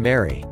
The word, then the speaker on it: Mari: has won two Emmys mari is pronounced like the name mary Mancusi is pronounced Manku